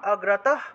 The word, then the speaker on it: অগ্রতঃ: তারপরে 22 নম্বর, জয়ামাম অগ্রতঃ পাতু, জয়ামাম অনুস্বার থাকায় ম, জয়ামাম অগ্রতঃ বিসর্গ থাকায় হ, অগ্রতঃ পাতু, বিজয়া পাতু